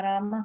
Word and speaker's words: Rama: Hare Krishna, Krishna Krishna, Hare Hare, Hare Rama, Rama Rama, Hare Hare. The words Hare pronounced Hare, Krishna Krishna, and Rama rhymes with drama are Sanskrit words.